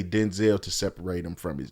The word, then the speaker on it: Denzel: That's how you actually say his name. That's the right way to say his Who name. said that was the right way to say it? He did. Yeah, he did. Denzel Washington said that the right way.